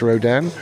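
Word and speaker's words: Rodin: own way with it Rodan I think it's pronounced Rodan rod in it's how it's written if you're well rod in it's not a rod in and this one's decked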